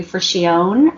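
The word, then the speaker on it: Fricchione: Benson who is who it's named after and Gregory for she own I believe is how you say that and they let me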